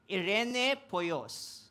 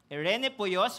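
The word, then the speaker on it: εἰρηνοποιός: hindi but according to my study This is pronounced as Irene poyos Irene poyos which simply means to make peace binalikan lang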